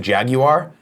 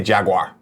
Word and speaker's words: Jaguar: If you're in UK and you pronounce it Jaguar, good for you. Here in America, we don't want to work that hard. We say Jaguar.